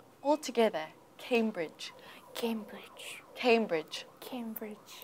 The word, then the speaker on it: Cambridge: Cambridge Cambridge listen carefully is it Cambridge or Cambridge Cambridge the first syllable yeah very good so the stress is on the first syllable Cambridge Cambridge Cambridge Cambridge excellent and don't forget that difficult ending sound h do you know that